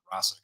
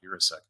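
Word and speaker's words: Benjamin Yurosek: touchdowns this year although osic I did find out that's how you say his name Benjamin uras not urasek uh urasc did have a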